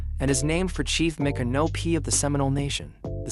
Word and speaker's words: Micanopy: Today we are taking a driving tour of Micanopy, Florida, pronounced Micanopy.